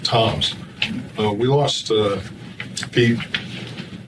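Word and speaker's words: Tzomes: The first black man and officer of submarine was uh Pete Toms, spells his name TZ O- S, but he pronounces it Toms.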